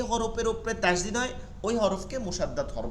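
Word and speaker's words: تشديد: ঠিক আছে, 2টা হরফ আছে, 2টা হরফ আছে, তাহলে এটাকে বলে তাসদীদ। আরবি শব্দ তাস, তাস, তাসিন, তাসিন, দাল, ইয়া, দাল, মানে তাসদীদ, তাসদীদ, তাসদীদ। এটা আবার পেন নিলে আর চলে না, তাসদীদ।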